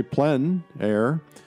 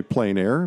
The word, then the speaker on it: plein air: to know the term it's French essentially meaning outdoors the French say plenn air others say plein air but it doesn't matter how you say it it's a huge movement